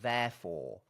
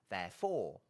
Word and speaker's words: therefore: has The Vow a therefore and you can put the accent on the first syllable or the second syllable you'll hear it both ways therefore therefore I think perhaps most